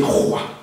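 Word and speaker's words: רוח: Et puis, tu vois, si tu lis le mot qui dit esprit en hébreu, ça se dit roi.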